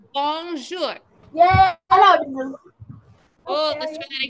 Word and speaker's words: bonjour: Say bonjour.